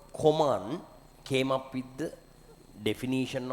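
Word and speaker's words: Kohman: A scientist called Koman came up with the definition of nuclide, right? Koman. I don't remember whether this is the 100% accurate spellings or not, but however it is pronounced to be Koman.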